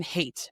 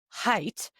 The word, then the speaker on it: Haidt: In the anxious generation, social psychologist Jonathan hate. Oh, pronounced height. Look, it's right there. It was in the blurb. Ah, look at that. We've been pronouncing it wrong this whole time.